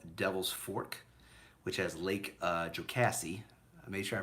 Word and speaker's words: Jocassee: One is called Devil's Fork, which has Lake Jocassee. I made sure I pronounced that right.